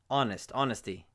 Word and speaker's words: honesty: Or air, or honesty, honesty. The H is completely silent in those cases.